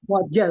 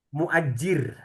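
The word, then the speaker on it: مؤجّر: Yang menyewakan muajal ya Ustaz? Muajjir. Muajjir. Yes. Al kenapa muajir, Ustaz? Enggak ada yanya kan, Ustaz? Ya, enggak ada muajjir. Jadi dia double ee apa? Tasdid di bawah a di atas ja terus e almajjir.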